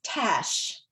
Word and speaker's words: Tache: And the one that she liked the best and my other daughter liked the best, it's Tache, but it's pronounced Tash, and it means mark or stain.